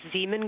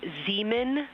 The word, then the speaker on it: Zeeman: Integrity science, we believe that's Zeeman crater. Oh, I floated away from the speaker. Say it again, please. We believe that that is Zeeman crater.